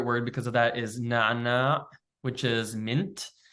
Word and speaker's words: نعنع: It has the doubled sound of which is a unique sound to Arabic that doesn't exist in almost any other language in the world. It's pronounced very back in your throat.